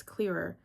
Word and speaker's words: Cleaver: Hi, my name is Cleaver. Pronounced like cleaver, like a knife. Okay. The Caretaker by Cleaver.